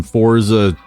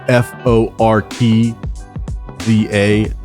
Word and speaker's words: Forza: Forza, like f O R T Z A. Fortza. I don't know where the T comes from, but a lot of people pronounce it for.